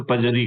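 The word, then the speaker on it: perjury: के ऑफेंस कहलाते हैं वैसे उसको प्रोन में आर साइलेंट रहता है तो पजरी कहते हैं पजरी के जो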